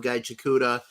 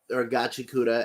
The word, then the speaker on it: Gachikuta: Kind of have fallen off of Gaichikuta, or Gachikuta as it's better pronounced.